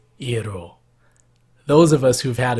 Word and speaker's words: gyro: gonna be cooking util you often hear a pronounced as gyro or Jarrell but the correct way to say it is e at all those of us who've